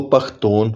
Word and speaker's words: پختون: رہنے والے خود کو پختون اور پشتون کہتے ہیں۔ وجہ یہ ہے کہ پشتون رسم الخط کے صرف ایک حرف کا تلفظ جنوب میں شین اور مشرق میں خیم کیا جاتا ہے۔ اب تیسرے نام افغان